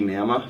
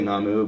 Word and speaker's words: Namu: I guess phonetically it should be Nama, Nama. but I say Namu because it's human backwards.